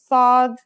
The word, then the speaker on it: صاد: the last lesson, and it kind of sounds like the S in the word saw. This sound is pronounced with your throat constricted. Listen to صاد and sin with the vowel alif we learned in the first lesson.